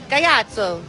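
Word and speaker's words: Gaiato: If you're not sure how to pronounce it, in Italy, we would say Gayato with the hand.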